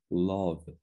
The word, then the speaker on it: love: 그래서 가끔 이 rub랑 우리나라 사람들이 R 발음이랑 L 발음을 잘 못하는 경우가 있는데 자, 이거는 앞에 약간 우 발음이 나고 L은 을 발음이 납니다. 그래서 이거는 love 이거고 이거는 심지어 B랑 V도 구분 못하는데 이거 발음 공부할 때 너무 좋은 예지.